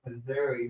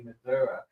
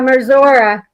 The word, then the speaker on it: Missouri: Apparently, it's not actually pronounced Missouri. The people that live over there say Missoura. Yeah, Missoura.